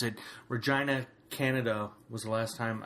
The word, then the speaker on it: Regina: think it was Regina yes that's how they pronounce it Regina Canada was the last time I did one